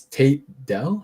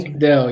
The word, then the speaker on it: Tank Dell: The wide receiver you mentioned, so it's Tate Dell? How do you pronounce it? Tank Dell, yeah, T-A-N-K.